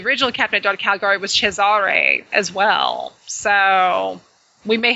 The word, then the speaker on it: Cesare: That actually, you know, it's funny because this whole time I've been, probably because I'm from Arkansas, I've been pronouncing it Caesar because, you know, it's not my fault.